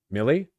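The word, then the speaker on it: Milley: I know Malay is pronounced like heavier Malay. I know that's Malay. Millie.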